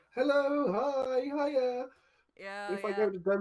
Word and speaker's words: hej: when I learned that hi or hello is hey, and then goodbye is no, it's hi, sorry, but it's HEJ, Uh-huh. so it's pronounced hi, but then goodbye is hi hi.